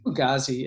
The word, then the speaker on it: Fugazi: I never know if I'm pronouncing it. Is it Fugazi or Fugazi? How do you? Fugazi, yeah.